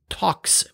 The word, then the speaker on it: Tox: taking advantage of the talks peer-to-peer protocol for command control so not tor with r instead talks with an x in the end and talks is well